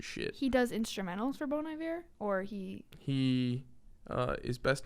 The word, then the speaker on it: Bon Iver: He was in Arcade Fire, Bon Iver.